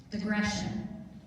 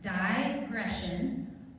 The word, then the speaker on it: digression: Digression. Can you repeat the word? There's two pronunciations. It can be pronounced digression or digression.